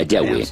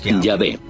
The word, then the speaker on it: Yahweh: De acuerdo con una de las explicaciones, Abraham conocía a Dios por su nombre más íntimo y personal, que normalmente se pronuncia Yahweh, Yahvé.